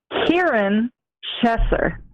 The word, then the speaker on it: Kieran Chesser: for everybody out there I'm going to pronounce my name which is Kieran Chesser oh okay so you're cute Erin chest Shusher okay yes the first syllable rhymes with beer cheer okay Kieran Shepherd okay